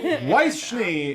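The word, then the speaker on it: Weiss Schnee: And I don't know if anybody was expecting this, everybody, but Weisschnee is joining the cast of BlazBlue. That is actually how you pronounce it, I found out.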